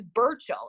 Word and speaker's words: Burchill: me so nervous be he are line2 you spell it again the BER who's that Alex thank you okay my name is Burchell it shouldn't be that hard from like so